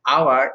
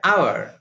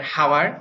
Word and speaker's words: hour: for point that is if H is not pronounced like each each to the GM of the butcher now in that case we use n for example an hour and honest etc look